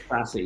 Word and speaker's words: SASE: Am I pronouncing it right? It's called SASE? SASE, yes, SASE.